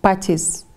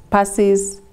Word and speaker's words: Pacis: latin word meaning for peace and the best pronunciation is practice because we have had people calling us passes pisces but it's a latin word meaning for peace